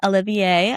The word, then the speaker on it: Olivier: And then you ended up winning the Olivier. I don't know if that's how you pronounce it.